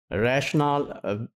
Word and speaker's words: rationale: See, we'll be using rationale with E and we will pronounce it with second stress syllable, rationale.